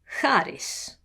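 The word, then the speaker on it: χάρις: The chi, or he, in front of a back vowel, or u, is going to be like charis. Charis. But in front of a front vowel, here. Here. It's a kind of a h sound versus a h sound.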